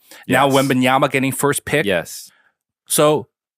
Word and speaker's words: Wembanyama: How do you pronounce this? Wembanyama.